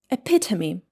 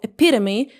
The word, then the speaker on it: epitome: H, it should be epitome in British English or epitome in American English. I prefer epitome.